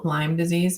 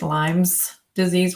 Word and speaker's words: Lyme disease: I have a lot of clients that have Lyme disease and it's serious. But as soon as they hear somebody say it's Lyme's disease with an S, they're like, you don't even know what I have.